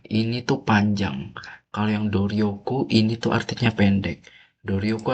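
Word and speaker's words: 努力: Ini itu jawaban yang benar itu Dorioku yang nomor 3 pendek guys ya jangan panjang.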